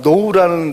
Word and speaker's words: know: 그래서 우리가 대표적으로 잘 아는 단어가 know라는 단어도 알잖아요. 내가 누구를 안다 할 때 I know you. 그 know가 앞에 철자가 뭐가 있죠? 이상하죠, 그게. K가 필요 없잖아요.